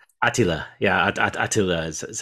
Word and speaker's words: Attila: It's like a different pronunciation, right? Attila. Yeah, Attila is how they say it.